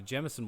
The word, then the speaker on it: Jameson: When the dancer had completed his routine, he ordered a Jameson whiskey, emphasizing the brand's 3 syllables with equal stress.